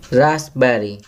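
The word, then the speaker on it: raspberry: रास्पबेरी, यहाँ P silent letter लिखेंगे.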